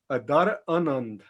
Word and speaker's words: Adharanand: It's Adharanand. Adharanand is how I. So the H is definitely there, whereas Adharanand, I do it like that. So you do Adharanand. Adharanand, right? It's a rhyme with another land.